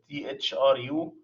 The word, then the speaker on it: THRU: And then I write down this THRU. It's not an English word, guys, but it sounds like the word through, THROUGH, which means it's penetrating.